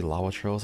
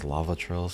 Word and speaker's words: Lawachurl: Every time I see Lawachurls, I keep trying to pronounce it as Lavachurls, because we're in Hawaii, that's how we pronounce W's a lot. So Lawachurl is Lavachurl to me.